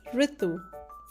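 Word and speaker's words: ऋतु: So the word is pronounced as ritu.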